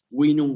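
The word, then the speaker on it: vinum: Cuando ustedes vean una B en corta en un texto, van a saber ya que esa B corta en latín clásico se pronuncia como una U. Winum, werut, were, widentur, werum, clavis.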